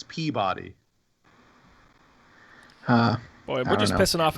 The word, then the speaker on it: Peabody: It's pronounced Pibbity. What? What? No. It's Peabody.